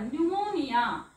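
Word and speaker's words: pneumonia: येणारा पी वाचायचा नाही पी एन सोबत पण वाचायचा नाही जसं इथे बघा निमोनिया इथे सायकॉलॉजी आधी लिहून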